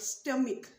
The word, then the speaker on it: stomach: In the word place, we utter this sound as S sound, but in the word stomach, C followed by H is pronounced as K sound, but in the same C followed by H in children pronounced as Ch.